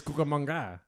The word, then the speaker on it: Cucamonga: I didn't think you could pronounce it. It's Cucamonga.